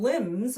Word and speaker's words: limbs: and limbs. When we're talking about arms or branches or something, it's spelled L I M BS. It's another one of those funny English words with a silent letter.